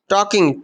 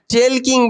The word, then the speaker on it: talking: কি বলছে, টকিং about myself, টকিং about myself, টকিং, টকিং, TALKING, টকিং উচ্চারণ হবে টকিং, টেলকিং বলা যাবে না, TAL, টেল হয়ে যাচ্ছে না, KING, টেলকিং, টেলকিং বলা যাবে না, কি বলতে হবে টকিং, TALKING, টকিং, টক, টক